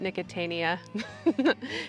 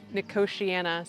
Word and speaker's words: nicotiana: because I would always I used to call it nicotania he's like it's not nicotania it's nicotiana so for all you gardeners